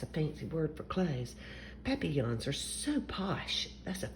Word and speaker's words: papillon: like our neighbor's dog you say it like this papi yawn in french it means butterfly i help